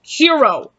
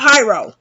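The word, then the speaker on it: Hiro: a special and also it's pronounced hero not hyro cairo is shown living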